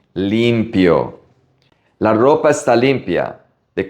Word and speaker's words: limpio: Limpio. Pay attention to the pronunciation of the I. It's a long E. Limpio.